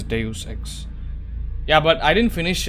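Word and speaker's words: Deus Ex: I think it's de I think the the actual pronunciation is Deus X yeah but I didn't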